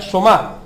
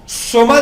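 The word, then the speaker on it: σῶμα: traduce del griego soma, o sea, somá, con acento en la A, y habla del cuerpo en un todo completo. Presentéis vuestros cuerpos, o sea, somá del griego, S-O-M-A, somá.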